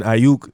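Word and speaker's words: Aiyuk: good quarterback you know and then with brandon ayuk that's how you pronounce his last name his breakout rookie year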